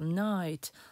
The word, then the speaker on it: knight: Увага на вимову слова «лицар» – «knight». Ми літеру «k» не вимовляємо.